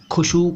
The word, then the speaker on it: خشوع: उच्चारण पर ध्यान दीजिएगा खुशु खुसू नहीं खुजू खुजू नहीं ठीक है खुशु खुजू जो लोग अरबी उच्चारण